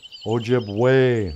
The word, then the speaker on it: Ojibwe: get up here and go oh yes it's pronounced ojib way not Ojibwe you know oh two eyes me